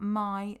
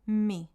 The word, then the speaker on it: mi: me here it's not my the E the I in Spanish is pronounced as an e so it's me my mot letter if